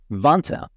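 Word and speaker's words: Vanta: Wonka rhymes with Santa.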